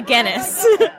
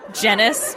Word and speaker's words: Guinness: cover my work and pronounce my name correctly any Guinness they usually pronounce it genis which is incorrect but anyway so the